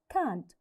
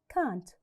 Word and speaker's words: can't: important to say can't so do not stress the T it's light can't can't so I can't play